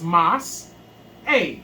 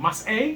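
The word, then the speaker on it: מסעי: So that means that stops the sound, right? Mm-hmm. So it's mas a, right? Mm-hmm. Mas a.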